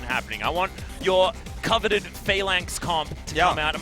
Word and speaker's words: Phalanx: I want your coveted Phalanx comp to come out. Am I pronouncing that correctly?